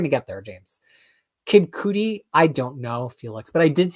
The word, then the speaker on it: Cudi: Oh, it's Cudi. Okay. Never rely on my pronunciation of anything.